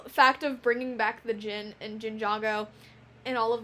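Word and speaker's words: Djinn: Because Ericor is a Jin. which is what Nauticon is. Oh, yeah. Because genie, Yes. Jin, but it's spelled D-J-I-N-N.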